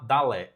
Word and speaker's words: Dalé: E hoje eu estou aqui com a Manuela Dalé. Eu pronunciei seu nome correto, certo?